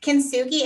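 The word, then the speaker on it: kintsugi: it right so congratulations because it's not it doesn't sound like what it looks like um kenzugi it's a japanese art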